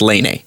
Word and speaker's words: Laine: named Patrick Laine, and it's spelled Lane, but apparently it's pronounced Laine.